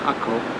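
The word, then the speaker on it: Acre: is A-C-R-E, but it's pronounced Akko.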